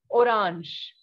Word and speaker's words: orange: we all know that the sound of g in french is jer right so orange in french is orange okay so we have